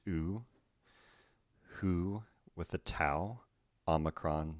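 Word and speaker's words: οὐ: go and means i smooth breathing plus diphthong that is pronounced oo is in hoot smooth breathing has no pronunciation value so this word is pronounced oo and means no next we have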